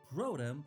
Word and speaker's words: Protum: I should also point out that the dialogue is pretty tongue-in-cheek, with characters constantly pointing out that the first city, Protum, rhymes with scrotum, and stuff like that.